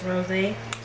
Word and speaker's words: Rosé: There's an accent on the E, so it's Rosé.